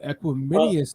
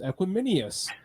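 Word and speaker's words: Equanimeous: I literally thought his name is pronounced Equiminius. That's funny. But then since then, I've heard everyone starting to say Equinemius, and I'm like, okay, I must have been right, or he's finally corrected everyone to make it sound correctly,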